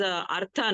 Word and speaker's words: Artha: Sir, Okay, so- then while reciting those mantras of Navagraha, you should pronounce as Artha, not Ardha.